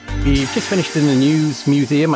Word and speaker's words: Neues: We've just finished in the News Museum, I think that's how you pronounce it, News, N-E-U-S.